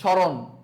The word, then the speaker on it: স্মরণ: নাকি কি বলি শুধু স্মরণ রাইট স্মরণ আমরা কিন্তু স্বয়মরণ বলি না আমরা সমসান বলি না আমরা সমরোগ বলি না আমরা কি বলি স্মরণ শ্মশান সারক সো শব্দের শুরুতে